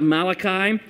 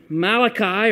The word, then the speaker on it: Malachi: Malachi, or Malach-i, e is that pronominal suffix that you add. It's a possessive suffix. So Malach means messenger. You add that little sound at the end, the E sound at the end, and it means my messenger.